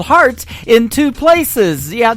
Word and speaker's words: Hart: on her last name and that is called heart in two places yeah I just like your heart that how that's spelled and uh she is actually formerly from